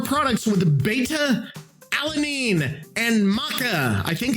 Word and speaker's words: maca: It's pronounced maca.